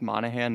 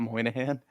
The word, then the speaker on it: Monahan: it, I want to point out that his name is definitely pronounced Monahan, not Moynihan.